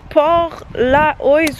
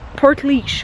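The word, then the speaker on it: Portlaoise: Parce que anyways, même quand tu penses être capable de lire les noms des villes ici, ça se prononce pas comme ça. Genre je vais vous l'écrire puis ça se dit genre Port-leash ou quelque chose comme ça.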